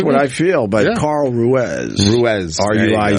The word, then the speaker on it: Ruiz: whatever you want well how do you pronounce it I say Ruez well how about you